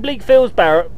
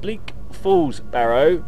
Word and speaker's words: Bleak Falls Barrow: are we what are we doing we're in blinkfield's barrett bleak falls barrow let's say it right uh we um have